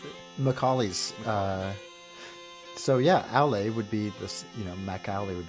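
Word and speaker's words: Aulë: In the Silmarillion, one of the minor gods is named Aule, like with an E with the 2 dots over it.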